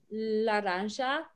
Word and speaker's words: laranja: in spanish is um laranja and the j makes like a sho sound and then amarillo that